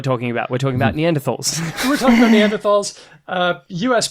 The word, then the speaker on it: Neanderthal: I believe Neanderthal is probably the more common pronunciation, but Neanderthal is historically more correct. I think it's a German or Swiss name for a place where some bones were found. It's Neander and Thal.